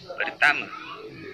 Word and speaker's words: pertama: Final a is usually pronounced as a schwa in Malay, at least in Malaysia. A couple more examples. Saya, meaning I, is pronounced saya. And pertama, meaning first, is pronounced pertama.